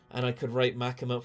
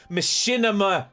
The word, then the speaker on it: Makima: I said, and I could write Machinima, chat. See, Lousy Goose. Ah, yes, Machinima. Yeah, he did for sure. Why do you keep mispronouncing Makima?